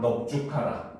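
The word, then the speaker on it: 넓죽하다: 그게 바로 넙둥글다, 넙죽하다. 이거 잘못했는데 리을 비읍이죠. 넙죽하다. 이것도 역시 리을 비읍이죠. 네. 넓다. 넓다인데 넙둥글다, 넙죽하다 이렇게 됩니다. 요것만 이제 예외로 비읍으로 발음하는 거예요.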